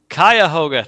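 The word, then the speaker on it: Cuyahoga: site of that group's Meetup when I presented kuoga County they told me how to pronounce this and unfortunately I'm not remember remembering how it includes kayah hoga thank you Kevin it includes the city of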